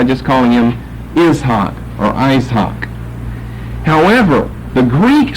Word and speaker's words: Isaac: Isaac, it's Isaac, and it's not Isaac, but it's an ak, Isaac. And the accent is over here, Isaac, in the Greek, and in the English, Isaac. We shift the accent to the first syllable, we lengthen the I from a short to a long I, and we change the pronunciation of these A's here. From ak to ak, Isaac, or Isaac.